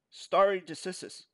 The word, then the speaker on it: stare decisis: Common law originated in England in the 12th century and is based on the concept of state decisis, pronounced state decisis, stare decisis.